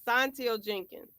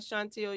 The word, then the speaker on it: Santil Jenkins: Santil Jenkins. It's not Chantil, y'all. So I'm working. It's Santil Jenkins.